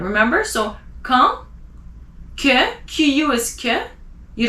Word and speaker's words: quand: Q, qualité, quand, AND, you don't pronounce the D at the end, remember? So, quand, que, QU is que, you don't say que, it's que.